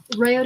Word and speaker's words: Raoden: And how do you spell it? His name, Rayoden, Yeah.